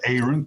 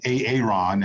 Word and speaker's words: Aaron: of key and p a lot of people want to call me aaron and i i do respond to that as well but my name is aaron so thank you for their correct pronunciation and then also nevada you